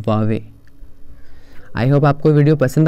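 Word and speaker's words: Huawei: ये चाइना का बहुत ही पॉपुलर ब्रांड है, इसको लोग बोलते हैं हुआवे, ये हुआवे नहीं है, इट्स वावे।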